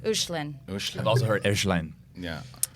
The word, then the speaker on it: Hoechlin: I think it's like Hoechlin. It's German. It's supposed to be like an umlaut over the the OE is in. So that's the real pronunciation of it. Hoechlin. Right. Hoechlin.